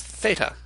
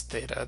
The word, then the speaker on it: theta: The next letter we have going in order is theta.